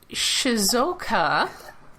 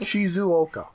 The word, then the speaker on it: Shizuoka: Uh so the Shizoka, if I pronounce that even close to correctly. Shizuoka.